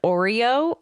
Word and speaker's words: Orieux: Also, they talk to the lieutenant of the space station, and his name is Oreo, but it's spelled, I need you guys to get ready for this, Orieux.